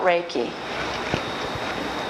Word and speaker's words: Reiki: And I'm going to start off by giving you a little bit of information about Reiki. Reiki is spelled R-E-I-K-I.